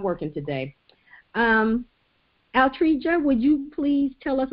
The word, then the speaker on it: Altregia: Altregia, but you said it right.